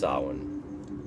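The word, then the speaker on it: Samhain: our current Halloween from it was pronounced Sawan it's spelled the same as s-a-m-h-a-i-n my purpose for saying my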